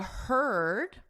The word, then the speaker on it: heard: Now they're saying the heard, right here, heard, is the same vowel as bird, bird, It's that sound.